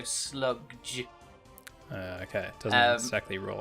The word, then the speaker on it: Slugdge: It's a band called, I'm going to pronounce it Sludge, but it's spelt SLUGDGE, so Sludge.